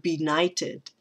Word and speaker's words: benighted: stop and talk about the word be knighted that is our that is another three syllable word and we have in